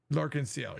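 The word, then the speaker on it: L'Arc-en-Ciel: Lenel, I can't remember how to say their name. It's like a French word. Liel. Lensiel.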